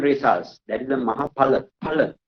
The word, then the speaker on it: Phala: Phala. Right? P-H-A, not Fa, Pa. Right? You need to understand in this way. You need to pronounce like that.